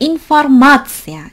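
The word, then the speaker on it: информация: 발음을 할때 informatia, informatia. 이게 더 크게 들리는 게 아니거든요. 다만 앞에 거 그냥 대충 발음하다 이 마에서 찍고 대충 informatia, informatia. 그쵸? 앞에 건잘안 들려요. 근데 이 마는 뚜렷해요. informatia.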